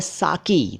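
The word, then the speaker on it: साक़ी: कि क के नीचे हिंदी में नुक्ता है, उर्दू में काफ है, काफ नहीं, और अंग्रेज़ी में क्यू लिखना चाहिए, लेकिन चल रहा है साकी। तो कोई बात नहीं, साकी साकी। आपको मालूम ज़रूर होना चाहिए कि सही शब्द क्या है।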